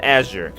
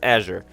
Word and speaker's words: Azure: Okay, so it is it is pronounced Azure. Okay, good that you heard it. It is pronounced Azure. We will call it Azure kelp.